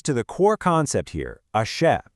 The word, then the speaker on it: Aṣẹ: Which brings us to the core concept here, ashe. It's pronounced ashe.